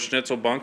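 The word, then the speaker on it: Schnitzelbank: a shaving horse um the correct pronunciation though is schnitzel bunk it comes from germany where they had thousands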